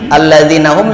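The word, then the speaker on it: الذين هم: Alladzina hum jangan gunnah, jangan samar. Contoh yang gunnah nih. Alladzina hum, nggak boleh digituin, harus jelas seperti izhar pada hukum nun mati dan tanwin. Alladzina hum gitu bacanya.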